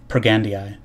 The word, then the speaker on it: Pergandii: So like Heidii or Pergandii. Wheelerii. Wheelerii. You don't say it like the EI in English, like A, like Pergande. You add the I at the end to the end of the person's name.